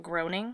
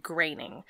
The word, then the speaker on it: Groening: um it's g-r-o-e-n-i-n-g but there's a bbc article that came out and it's like 10 celebrities that you're definitely pronouncing their name wrong oh and he's one of them yeah and he's one of them and they said graining so i'm going to